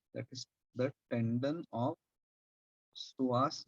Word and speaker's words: psoas: Next muscle is a very short muscle, that is the tendon of psoas major. P is silent.